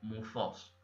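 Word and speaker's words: μῦθος: pronunciaría algo así como mufos sí la vena cascrita en la diapositiva que dice mitos la th se pronunciaría como Z y la y es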